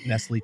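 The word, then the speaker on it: Nestlé: I think it's kislay may nisl go that's pronounced correct nestly chocolate and then they also said KD is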